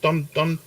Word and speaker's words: Donetsk: How's that pronounced? Donetsk.